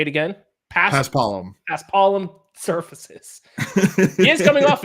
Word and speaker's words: Paspalum: I don't know how to pronounce it. Paspalum? Paspalum. Yes, that sounds a lot more correct.